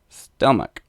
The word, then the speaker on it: Stelmach: Whenever I see something that's slightly German looking, I default to the German pronunciation. Stelmach. Like stomach with an other letters in between.